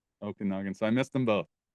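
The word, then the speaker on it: Okanagan: Pentictton in the Okonogan Valley. Okanogan.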